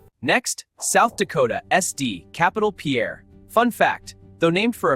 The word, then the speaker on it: Pierre: Next, South Dakota, SD, Capital Pierre. Fun fact, though named for a Frenchman, Pierre Shuto Jr., This US state capital is actually pronounced pier.